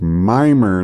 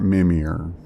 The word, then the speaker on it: Mimer: at the arranged location so it's mimer not mimir okay i will try to remember that and pronounce it appropriately this wait okay i'm